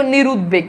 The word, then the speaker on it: নিরুদ্বেগ: উচ্চারণ থাকে যেমন দেখো নিরুদ্বেগ এখানে দেখো ব এর উচ্চারণ আছে মানে দ এর সাথে